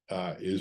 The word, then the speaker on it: IJ: This is the I waterway. By the way, I is written IJ, and it's pronounced I.